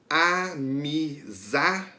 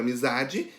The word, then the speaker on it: amizade: A palavra amizade. A sílaba que é pronunciada com mais força é za. Amizade. Então, a sílaba tônica da palavra amizade é a za.